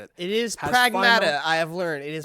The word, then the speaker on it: Pragmata: I need to know because this Friday, Pragmata, Pragmata, however you want to pronounce it. It is Pragmata.